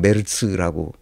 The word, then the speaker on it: 메르츠: 바로 메르라 사람입니다 메스 그렇게 독일 사람들은 메라고 발음하는데 우리는 메르츠 쓰죠 이게 프리드리 메츠 1955년생